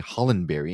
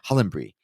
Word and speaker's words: Hollenbury: I did try to use the British pronunciation of your last name. I would say Hollenbury in the American, but it just sounds so plebeian to say it that way, right?